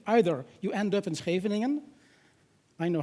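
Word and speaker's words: Scheveningen: neighbors who said either you end up in schraveningen I know how to pronounce it I'm Dutch poor or you leave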